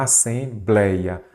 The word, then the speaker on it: assembleia: A assembleia, a sílaba forte é a penúltima.